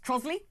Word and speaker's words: Trottiscliffe: There's a village in Kent called Trottiscliffe, which is pronounced Trosley. Was it Trosley?